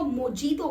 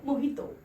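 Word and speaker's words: mojito: है ये है ना सो लोग इसको मोजीतो बोलते हैं उसकी स्पेलिंग के चलते बट वो मोजी तो नहीं होता है उसका राइट प्रनंसीएशन है तो वही तो ठीक है मोहित तो सो दिस इस हो यू आर सपोज तू प्रोनाउंस दिस वर्ल्ड मोहित तो ना की मुझे तो आते हैं नेक्स्ट शब्द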